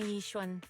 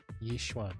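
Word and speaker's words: Yixuan: You can call me Yishwan. Yishwan. There we go. Now we got an official pronunciation.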